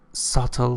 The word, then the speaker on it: subtle: means a slight difference subtle difference su bt la soto b is not pronouncing subtle those who could see